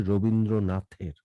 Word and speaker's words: রবীন্দ্রনাথের: ঈশ্বরচন্দ্র বিদ্যাসাগর থেকে বঙ্কিম রবীন্দ্রনাথের হচ্ছে, এটা উচ্চারণটি হবে রবীন্দ্রনাথের, থ হবে, ত আসছে।